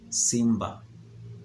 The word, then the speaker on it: simba: But the pronunciation is Simba, meaning lion in Swahili.